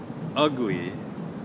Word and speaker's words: ugly: So for ugly, okay, we will put the stress on the first syllable.